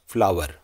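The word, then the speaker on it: flour: अर्थ होता है आता बहुत लोग इसे गलती से फ्लोर बोल देते हैं लेकिन सही उच्चारण क्या है फ्लावर ठीक है लेते हैं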